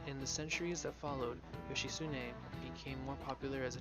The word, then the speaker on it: Yoshitsune: Minatomo no Ichitsune. This is it. Correct. Exactly. Magistrate was Minamoto no Yoshitsune's title. Yoshitsune? You can never pronounce it right. Because of the THU is like a su sound, which later became his nickname.